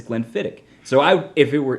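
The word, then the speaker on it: Glenfiddich: i a lot i hear people say uh glenn fittich a lot which is incorrect it's actually glenn fittick and you can always remember that if you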